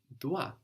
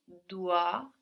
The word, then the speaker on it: dois: The O-I there gives us wa, like in dois, which is spelled D-O-I-S.